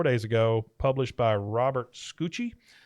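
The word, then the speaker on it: Scucci: ago published by Robert scoochie I think that's how you say his name SC C CCI yeah like Stanley Tucci but scoochie scoochie scooch it says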